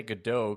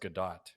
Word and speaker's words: Gadot: the thomas told me i'm not allowed to say godot because it's not she's not french so it's it's pronounced gadot that's how i've heard